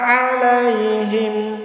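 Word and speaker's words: عَلَيْهِم: Siratal ladzina an'amta 'alaihim. Nah, ini perhatikan huruf ain ya. Siratal ladzina an'amta 'alaihim. Nah, jangan siratal ladzina an'amta 'alaihim. Salah ya, kalau bacanya seperti itu salatnya enggak sah.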